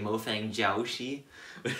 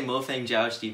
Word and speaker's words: Mofang Jiaoshi: which most people say mo fang jiaoshi is like really americanized way to pronounce chinese um but yeah them i'll just say mo fang jiaozhi because that's probably what